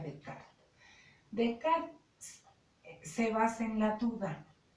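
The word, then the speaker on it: Descartes: que este método de decarta se dice se escriben las cartas pero era francés bueno entonces se pronuncia de cara se basa en la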